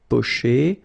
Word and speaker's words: pocher: Okay, remember er, because these are verbs here. Griller, pocher, éplucher. Okay, you pronounce them A. Okay, even if you've got this R. Okay, this combination of two letters, R at the end, will give you the sound E.